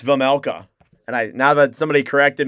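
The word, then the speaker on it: Vejmelka: I used to thought it was Vizmelka, but it's Vizmelka. And now that somebody corrected me, I'm now pronouncing that correctly.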